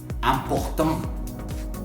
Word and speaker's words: important: Por ejemplo, tenemos important. ¿Te fijas cómo la estoy pronunciando? Important. Imposible. Y con la IN es muy similar. Invitation. Internacional. Entonces, como an o como am. ¿Se fijan? Hago la nasal.